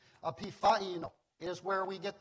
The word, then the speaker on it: epiphaino: And I hope my pronunciation is correct. This is for your knowledge as well as mine. It is epiphaino.